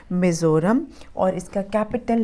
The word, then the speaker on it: Mizoram: इसको पढ़ेंगे मिज़ोरम और इसका कैपिटल है AIZAWL।